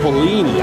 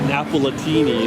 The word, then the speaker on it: Napolini: And that's Napolini, I was saying it wrong. Not Napolitini, it's Napolini.